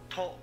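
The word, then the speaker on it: ト: To. This is to or to. Pronounce it as to, like in the word toe.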